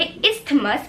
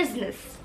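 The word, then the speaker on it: isthmus: इसको देख के काफी ज्यादा लोग बोलेंगे इस्थमस, क्योंकि यहाँ पे TH है, बट नहीं, ये इस्थमस नहीं है। This will be pronounced as इजनस। इजनस।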